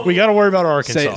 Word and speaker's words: Arkansas: Say it right. Arkansas. Right, which is why we have to be worried about getting stuck there because Tim doesn't know how to say it. Look at how it's spelled. It's Arkansas.